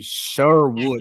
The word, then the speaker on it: Sherwood: So, without further ado, our guest today is going to be Sherwood. That's how you pronounce it, right?